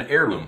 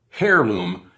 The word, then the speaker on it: heirloom: Now, the Cherokee Purple is an heirloom plant, or hairloom, if you pronounce it as it's spelled.